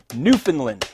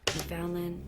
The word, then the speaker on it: Newfoundland: reminding you that it's pronounced Newfoundland, not Newfoundland. Newfoundland.